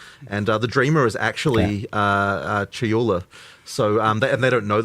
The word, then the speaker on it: Chayula: So the acolyte of, I always get this name wrong. The acolyte of is it Chalula? Chayula.